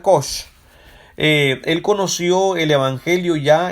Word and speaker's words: Cox: Nuestro hermano Jerónimo Cox, se escribe Cox, se pronuncia Koch.